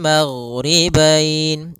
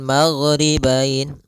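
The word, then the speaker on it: الْمَغْرِبَيْنِ: Kemudian di sini huruf ghain, hati-hati dalam pelafalannya, jangan sampai memantul, jangan maghribain wa Rabbul maghribain sampai dia memantul. Nah, karena huruf ghain tidak ada sifat qalqalah, tidak ada sifat pantulan.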